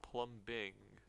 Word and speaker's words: plumbing: the language English when if you look it's spelled plumbing. There's a B in it. Just this language sucks. Just going to make that clear. Like if I pluming there does not need to be a B in that sentence or that word, but whatever.